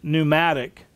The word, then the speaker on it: pneumatic: Many English words would start with the letters P-N, where the P is silent, such as pneumatic, pneumonia, and pneumonic, are all derived from that Greek word pneuma.